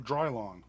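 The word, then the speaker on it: drylin: But I think they were E3D or Dryong.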